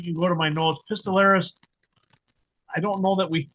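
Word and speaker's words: pistillaris: Is that like pistol on a the flower anatomy like that? Very delusaris. Yeah. Yeah. Spelled like the pistol on a on a plant.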